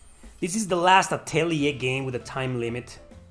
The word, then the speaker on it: atelier: let's do that again that's how it is pronounced atelier damn it's hard to pronounce so we're just